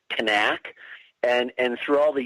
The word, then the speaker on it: Knaak: we want to talk her name is actually pronounced Kanak and and through all the years that I've covered this I always I always thought her name was pronounced the way that you're saying it nak so if I find myself going back and